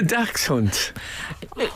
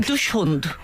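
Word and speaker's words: dachshund: of the dog again the Dax Hunt is that wrong dush hunt oh why do you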